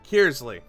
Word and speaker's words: Kearsley: Kearsley.